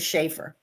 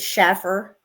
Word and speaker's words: Shafer: Well, my last name my maiden name was Shafer. And I would always get Shaffer or Shiffer or you know, because there's like a dozen different ways to spell Shafer.